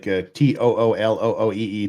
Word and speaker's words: Tooele: Yes, some of mine are favorite, like Toolooee, Tooele.